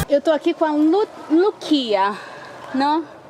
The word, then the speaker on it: Loukia: Eu tô aqui com a Loukia, não? É Lúcia em grego.